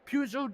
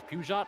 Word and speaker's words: Peugeot: The opportunistic Peugeot driver trying to prove that he belongs. By the way, it's Peugeot. I said it wrong.